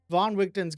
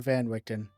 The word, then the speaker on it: Van Richten: Okay, so next up, I wanted to talk about Von Richten's Guide to Ravenloft. I think it's Von Richten, not Van Richten. I'm pretty sure it's Von Richten because that's normally how this would be pronounced.